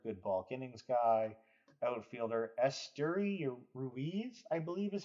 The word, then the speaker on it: Esteury Ruiz: Outfielder Esteury Ruiz, I believe is how you say it.